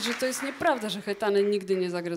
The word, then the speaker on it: Hetane: już tak przyzwyczaili że ludzie po prostu wymawiają hetane tak po polsku że już nie reagujemy na to To jest piękne polskie słowo dokładnie ale tak naprawdę tam jest takie krótkie hetan to jest takie op